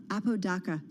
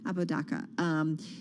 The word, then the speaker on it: Apodaca: Nathan Apodaca, I don't think I'm saying it right. Apodaca, thank you. Apodaca.